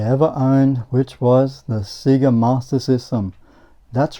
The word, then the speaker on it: Sega: that comes across and Sega then we realized that we've been pronouncing it wrong all those years but we still call it Seger and if that's what